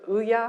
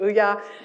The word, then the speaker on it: Ouya: Ouya, am I pronouncing it right? Ouya.